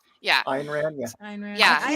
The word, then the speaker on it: Ayn Rand: Ayn Rand, yeah. Ayn Rand. Yeah, I never so- pronounced it I've tried right, 2 so- of her books and I couldn't get through them.